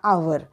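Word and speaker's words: hour: पुढचा बघूया एच ओ यु आर आर किंवा आवर ओके तर त्याचा अर्थ आहे तास म्हणजेच सायलेंट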